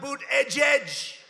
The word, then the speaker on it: Buttigieg: How about Boot Edge? Boot Edge. They call him Mayor Pete. You know why? Because nobody can pronounce his name.